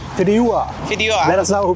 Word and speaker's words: Fideuà: Figueroa? What is it called? Fideuà. Fideuà. Let us know who pronounces better.